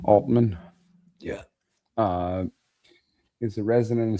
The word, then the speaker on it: Altman: Sam Altman strongly denies the allegations, labeling them extortion and utterly untrue, while countersuing for defamation.